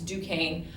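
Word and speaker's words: Duquesne: named it Fort Duan um that's how you pronounce that it's Duane obviously English are not very happy that the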